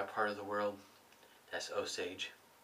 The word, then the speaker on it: Osage: but in my part of the world that's oage oage rub that's how we're pronounce it over in this part of the